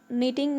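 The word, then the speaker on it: knitting: इसमें के को हम साइलेंट करेंगे और बोलेंगे नीटिंग नीडल।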